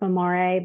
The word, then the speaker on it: Memore: Memore is mindful in Italian, and it's actually pronounced Memore, but we just say very English, like American way of memory.